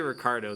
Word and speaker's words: Ricardo: It's like, just say Ricardo. That's how I pronounce it, and that's honestly, if you have the accent of an American, that's the way you're gonna pronounce it, man.